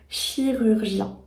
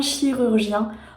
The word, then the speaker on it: chirurgien: mot chirurgien un chirurgien encore une fois on retrouve ce r qui est compliqué à prononcer plus on retrouve le U qui peut être aussi assez compliqué selon l'endroit d'où tu viens et on a ce son nasal 1 donc voilà ça peut